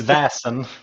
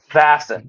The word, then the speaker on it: Vaesen: please tell us what the correct pronunciation of this game is it's vasen vassen okay yes yeah so so